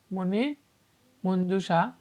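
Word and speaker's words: মণিমঞ্জুষা: পরিচয়তা কে রবীন্দ্রনাথ ঠাকুর মনিষ মঞ্জুসা শব্দটির প্রমিত উচ্চারণ হচ্ছে মনি মঞ্জুসা লিঙ্গর হয় না এমন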